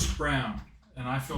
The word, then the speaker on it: Braun: Brown. Whatever. It's Brown. Is it? It's Brown. It's spelled like Braun. It is, but it's Brown.